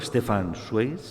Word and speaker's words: Stefan Zweig: Te conocí también y a ti me ayudaste a conocer a un autor, Stefan Zweig, no se pronuncia así muy bien en alemán, pero genial, descubrí un autor que me encanta.